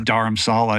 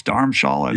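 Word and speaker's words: Dharamshala: Julie before we went I said it's darh Sala and she's like no it's darh Shala and she showed me and it was spelled with the h like oh I don't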